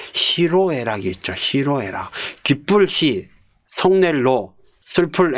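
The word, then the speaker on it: 희로애락: 원래 he노에락으로 원래 써야 되는게 맞을 터인데 이것도 화름 현상 때문에 히노에락이 아니라 히로 예 그렇게 바뀌어져 있다.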